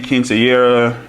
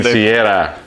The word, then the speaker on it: quinceañera: wedding or a bridal shower or engagement party, quinceañera, birthday. Quinceañera.